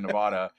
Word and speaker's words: Nevada: got so much shade for all of our mispronunciations for saying Vegas Policy should say Nevada or Nevada instead of Nevada.